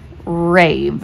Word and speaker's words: rave: Rave. And they're like, rave, rave. Then have them break it down. R-A-V. To me, that's only three sounds because that E is silent at the end, right?